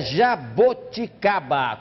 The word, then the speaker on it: jaboticaba: Será que é jaboticaba com O? Assim. Ou jabuticaba com U? Jabuticaba. Ah, não sei. Acho que se eu fosse escrever, eu escreveria com O em vez de U. Jaboticaba, eu acho. Resposta. Tararam. As duas formas estão corretas em português. Pode ser jabuticaba ou jaboticaba.